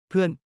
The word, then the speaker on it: เพื่อน: เพื่อน Sounds like puin with a falling tone. This means friend or friends but isn't used for I or you only for referring to he, she, or they. เพื่อน เพื่อน เพื่อน แฟน Rhymes with fan.